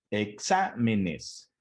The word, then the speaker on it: exámenes: El mismo caso. La sílaba tónica se encuentra en la antepenúltima sílaba, ¿sí? La última sería nes, la penúltima sería me y la antepenúltima sería xa, que es donde recae la sílaba tónica. Por lo tanto, es una palabra esdrújula.